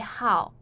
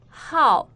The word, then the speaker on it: 好: Here, 好 is pronounced the fourth tone.